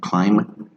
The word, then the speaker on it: climb: Some of those consonants that don't sound when you pronounce it, like silent B, for example, bomb, dumb, climb, okay, calm, limb, thumb, they don't sound like